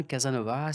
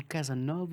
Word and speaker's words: Casanova: Alors on dit Casanova ou Casanova? Chez nous, on dit Casanova, Ah, Casanova. mais on le dit le A, mais on Ah, on avale un peu la fin des syllabes.